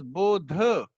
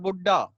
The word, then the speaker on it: Bodh: Now it is Bodh. Again, pronunciation is important. Do not add a with anything like Americans do. Do not adopt their bad habit. It is not Buddha.